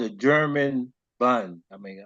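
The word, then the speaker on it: Bund: um called a German bun I mean I'm going pronounce the last spelled bu n d and that was a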